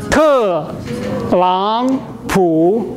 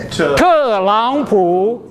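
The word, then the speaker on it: 特朗普: Te Lang Pu. Who is Te Lang Pu? Trump. That's the Chinese translation of. One more time. Te Lang Pu.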